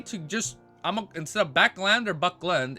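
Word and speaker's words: Backlund: pronunciations wait no no it's not Buckland where hold up hold up I I got it open it's right here ready backland backland we agree to just I'm instead of backland or Buckland it's lend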